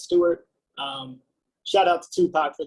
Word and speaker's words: S2ART: You pronounce that S2ART as Stuart.